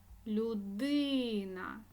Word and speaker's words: людина: словах Всесвіт наголосна е людина наголосна и місце наголосна і музей